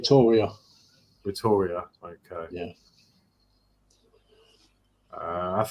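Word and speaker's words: Rotorua: god parents live in New Zealand near oh rotor rotor I can't pronounce that sorry roor rotor is that right silent you uh Peter says forgive my spelling no forgive my pronunciation yeah it's roria roria okay yeah a says okay who tuned in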